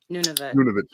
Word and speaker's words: Nunavut: Okay, they added like Nuvat or what? I don't know how to pronounce it. Nunavut.